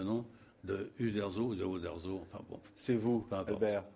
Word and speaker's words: Uderzo: déformation de parce que le U se prononce ou en italien alors de ou à O il y a il y a une petite différence on ne sait pas